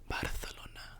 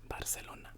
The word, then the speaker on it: Barcelona: spoken in Barcelona um or or for those Spanish girlies out there Barcelona I'm Mexican so I pronounce it Barcelona but yes but yeah